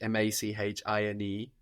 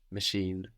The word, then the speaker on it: machine: be pronounced in French machine machine machine the same more or less no so we end in NE e so we pronounce that last consonant we pronounce that n on the end because it's NE e